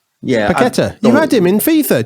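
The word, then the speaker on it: Paquetá: Lucas Pauleta. You think he plays for? Is it Lille or Leon? Who does he play for? He's Brazilian. We've been linked. Paqueta. That's it. I can't pronounce his name. That's it. Paqueta.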